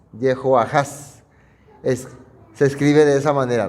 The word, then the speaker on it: Jehoahaz: Joacás, su pronunciación y transliteración original sería Jehoahaz. Jehoahaz.